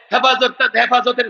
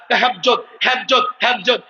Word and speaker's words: হেফাজত: হেফাজতের নামে এক ব্যক্তিকে ধরে নিয়ে আদালতে দাঁড় করিয়েছে। ওই ব্যক্তি হেফাজত শব্দ উচ্চারণ করতে পারে না, হেফজত হেফজত হেফজত।